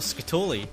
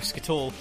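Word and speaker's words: Skatole: And Scyther actually finding something I haven't seen in a while, Scatoli. Or Scatole. However you guys want to pronounce it, I prefer Scatoli.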